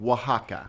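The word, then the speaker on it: Oaxaca: right okay and it's say the name of it again Waka but that's spelled like o a o a x a CA well I think we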